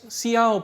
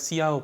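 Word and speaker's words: Hsiao: And now the second procedure is called as Xiao procedure, right, so probably the H is silent here, it is called as Xiao procedure.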